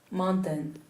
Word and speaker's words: mountain: The second syllable is? Mountain. Mountain. Schwa. Oh, is schwa, no? It's an e.